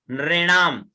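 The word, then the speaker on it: नृणाम्: तो यद गुह्यम परमम लोके सर्व रक्षा करम नृणाम, है ना, नृणाम, न के नीचे री की मात्रा है, नृ, रे नृ, रे का उच्चारण हो, ठीक है ना।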